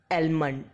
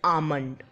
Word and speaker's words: almond: सो are next word is almond, which was pronounced as almond, बट it's real pronunciation is almond.